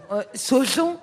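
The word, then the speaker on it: Saujon: La plus grande ville, c'est Sochaux. On n'a pas Comment compris, on n'a pas compris. Royan. Royan. Non mais comment tu Ah, l'écris? Royan. Sochaux. Sochaux, comme ça se prononce.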